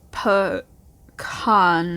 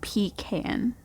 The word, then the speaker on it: pecan: turn yes oh sorry pecan is pronounced p khan not p can i can't argue with